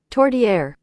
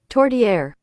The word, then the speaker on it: Tourtière: Do they have the pronunciation on there? By the by. Everybody else wants to know too. Tourtière. Tourtière.